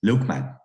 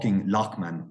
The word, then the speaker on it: Loughman: I goes what's your name and I goes lukeman lukeman yeah remember the two guys looked